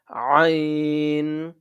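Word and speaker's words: ع: আইন, আইন, আইন, আইন এবং হা, এই ২ টা একই মাখরাজ থেকে, তাই উচ্চারণটা একই জায়গা থেকে হবে এবং একটু গলায় চাপ দিয়ে উচ্চারণটা করতে হবে।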